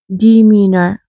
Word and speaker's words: demeanor: The pronunciation is same, only the spelling is different.